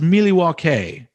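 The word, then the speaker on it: Milwaukee: member i was unaware of that actually it's pronounced miliwa k which is algonquin for the good land i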